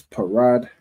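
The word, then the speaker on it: פרד: The p is pronounced individually and then the rah and da will be connected. All right. So that will make the word parad.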